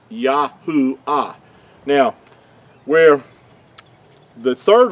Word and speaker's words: Yahuah: So I wanted to show show you that so you make sure that you understand that the creator's name could not be Yhovah. It's Yahoo.